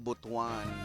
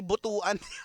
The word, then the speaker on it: Butuan: Ah si kuya mong Francisco eh nasa Butwan. Yun pala ' ba yun yung tamang ano pronoun? Hindi prono hindi pronunciation. pronoun pronoun ng ano butwan hindi butuan kasiung ibaan iba yung